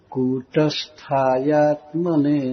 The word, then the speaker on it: कूटस्थायात्मने: क का दीर्घ उच्चारण, इसमें दीर्घ उकार लिखा गया है। कूट ट पर भी रुकेंगे। कूटस्थायात्मने नमः, इस तरह से पढ़िए।